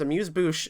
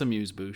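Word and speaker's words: amuse-bouche: years old when I found out how to pronounce amuse Bo and I wasn't going to pronounce it ever in front of you because you speak French no I I mispronounce it it's amuse Bu you're right you're good amuse amuse amuse um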